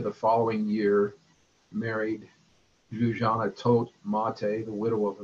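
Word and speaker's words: Tóth: Mihai Tote, it's spelled T-O-T-H, but there's no T-H sound in Hungarian, so it's just Tote.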